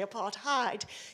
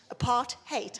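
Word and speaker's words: apartheid: me when people say apart hide you only have to remember it's keeping people apart and it's hate apart hate and that's how you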